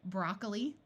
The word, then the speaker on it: broccoli: long e sound like broccoli note that this o takes a muffled schw sound or even disappears entirely kiwi with a